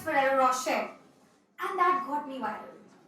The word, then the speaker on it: Ferrero Rocher: So I said that it's not Ferrero Rocher, it's Ferrero Rocher, and that got me viral.